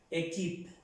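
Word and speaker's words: équipe: Pero tiene el acento agudo y se pronuncia E. Equip, equip.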